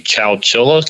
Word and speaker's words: Chowchilla: um you're in and I don't know if I'm pronouncing it correctly Chowchilla California is that correct yeah you pronounced it perfect that's exactly it I